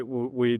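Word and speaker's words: Weee!: That's why we double down in this space. Just to give one example, the best performing company in Fund 1 is called We, which is spelled as EEE.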